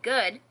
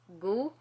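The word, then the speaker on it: god: translated so to say good you say goo goo and as you will see on screen you it's spelled G OD but you don't pronounce the D it's just I don't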